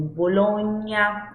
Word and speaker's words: Bologna: Você viu ali que é com GNA, ou seja, sempre que eu tiver as consoantes, o sonzinho ali GNA, eu vou ter a sílaba GNA, eu vou ter o som nha, nha. Como Bologna, lasagna.